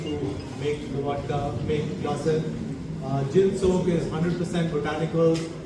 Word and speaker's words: Glacir: Okay, we now move to the next chapter of Ardent's portfolio, the unveiling of gin soak and Glacir. Is that how you say it? Glacir.